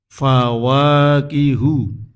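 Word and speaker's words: فواكه: Kemudian berikutnya yang ke-25 kita baca fawakihu juz 18 surat Al-Mu'minun ayat 19. Hu kawaos pendek sak harokat. Jadi hunya itu dibaca pendek sak harokat. Tidak, kalau tidak hati-hati bacanya panjang. Al-Mu'minun.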